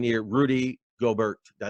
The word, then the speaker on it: Gobert: Rudy Gobert.